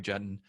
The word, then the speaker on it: Juetten: to my friend Mary Jen rhymes with a button we are talking about